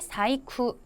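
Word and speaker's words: 細工: 또 주의하셔야 될 거 세공의 사이후 장인 공짜가 코가 아니라라고 발음이 된 한자인 것도 같이 봐두시면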